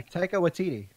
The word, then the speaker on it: Taika Waititi: Yeah, Taika Waititi.